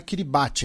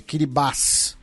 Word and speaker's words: Kiribati: Inclusive, várias pessoas lembrando, né, que a pronúncia não é Kiribati, é Kiribati.